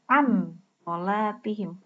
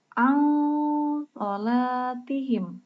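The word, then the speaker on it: عَنْ صَلَاتِهِمْ: Nah, ini tidak boleh dibaca an sholatihim karena ini bukan huruf izhar, tapi huruf ikhfa, maka dibacanya harus seperti ang sholatihim. Jadi samar kan?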